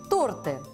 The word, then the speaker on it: торты: на звучит как торт во множественном числе ударение сохраняется торты если мы будем склонять